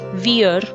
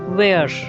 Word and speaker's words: wear: can't be pronounced as veer rhyming with ear its correct pronunciation is where rhyming with air as a verb